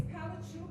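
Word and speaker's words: Palaszczuk: It's Palachuk. It's technically Palachuk because it's a Ukrainian name. And if you look up how do you pronounce CZUK, it's Chuk.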